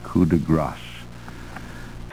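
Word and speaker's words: coup de grâce: grace, a finishing stroke, is often, I would say more often than not, pronounced coup de grace, and it cannot be coup de grace. G-R-A-S is gras, G-R-A-C-E is grasse, and this is coup de grace.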